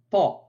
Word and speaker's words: ط: ce point d'articulation donc la 16e lettre de l'alphabet ta se prononce au niveau de la pointe de la langue qui vient toucher l'avant du palais au niveau des incisives supérieurs ta ta c'est l'équivalent de ta du français tel que dans les